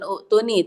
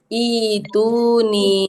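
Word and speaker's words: ائتوني: Nanti jadi kalau lagi tilawah ternyata bukan utuni tapi ituni seperti itu.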